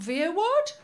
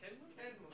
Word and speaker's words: Kenwood: I don't know how to pronounce it. Veerwood? Veerwood. Kenwood. Oh, Kenwood. I thought it was German.